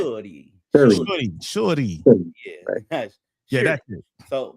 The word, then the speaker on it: Shuri: Shuri.